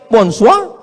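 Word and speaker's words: bonsoir: Tulisannya bon jowur. Bacanya bonjou. Bon soir, bonsoa.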